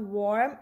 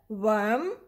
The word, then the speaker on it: worm: is our world okay when we have warm but this is not warm it's either worm or worm earthworms are good for